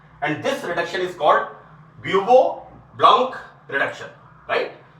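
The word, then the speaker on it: Bouveault: This is called bubo ब्लॉन्क, this is BAUVO, ब्यूवो ब्लॉन्क reduction. So remember this BAU, इसका spelling मैंने बोला है आपको, एंड वहां पर नोट किया मैंने इसको, this is called ब्यूवो ब्लॉन्क reduction, right?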